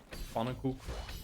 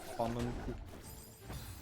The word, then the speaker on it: Pannenkoek: I mean, no one actually really pronounces that N, it's just Pannenkoek. Yeah, Pannenkoek.